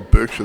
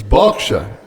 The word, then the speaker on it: Berkshire: I mean, Low Donation's got a horse there, it's spelled Berkshire. But if you go to England, you ask for Berkshire, they don't know where you're talking about. It's Berkshire.